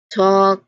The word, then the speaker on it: talk: And there's also silent L that has some interesting ones like walk, talk, and even salmon. That L is just not pronounced at all.